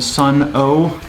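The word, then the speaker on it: Sunn O))): people don't realize they they call them sun oh and it is spelled oh with the little uh uh parentheses after it but uh that actually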